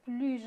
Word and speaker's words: plus: Alors, chers étudiants, vous avez bien remarqué qu'avec un adjectif ou bien un adverbe, on ne prononce pas le S dans le mot plus. Je dis, par exemple, Lina est plus jolie que sa sœur, d'accord?